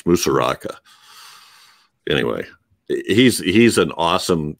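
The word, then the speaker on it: Musuraca: something i said it i mispronounced his name nicholas nicholas is musaraka i think i said mirosaka it's musaraka anyway he's he's an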